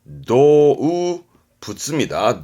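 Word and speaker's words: 動物: 발음은 도우부츠입니다.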